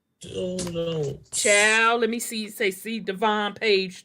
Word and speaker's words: Devon: Okay, you heard him pronounce it. So it is Devon.